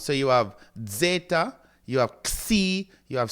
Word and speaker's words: zeta: So you have the first one is zeta, zeta. Remember, you have a little DZ sound at the beginning, zeta.